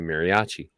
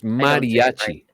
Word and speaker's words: mariachi: is so typical of how Americans would usually pronounce it. They would say mariachi. I know, and it's mariachi or however you say it. No. It's mariachi. Mariachi.